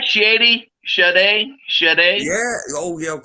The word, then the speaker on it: Sade: Sade. Is it Sade. Sade? Sade.